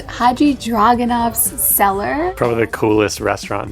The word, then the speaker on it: Hadjidraganov: We are at a new restaurant, which is pronounced Haji Dragonov's Cellar.